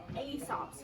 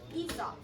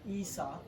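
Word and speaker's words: Aesop: that we actually pronounced ESOP so the a is actually silent which is a little bit tricky but now you know yeah so ESOP is how said and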